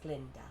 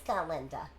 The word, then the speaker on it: Galinda: Although some of us still tend to favor form over content, Miss Glinda. It's Galinda. Yes, of course, Glinda.